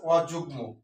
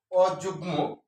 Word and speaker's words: অযুগ্ম: অযোগ্য যোগ্য আর হচ্ছে অযুগ্ম এটা হচ্ছে গ এর সাথে ম ফলা যুক্ত হলে গ এর উচ্চারণটা বজায় থাকে অর্থাৎ অবিকৃত অবস্থায় থাকে অযুগ্ম আর হচ্ছে অযোগ্য যদি